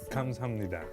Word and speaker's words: 감사합니다: 감사합니다.